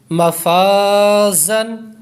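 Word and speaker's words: مفازا: کانا، کانا، مالن مالن مفازن زا کو سختی سے پڑھیں گے مفازن طالبو طالبو تابو تا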